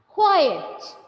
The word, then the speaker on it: quiet: And keep quite quiet.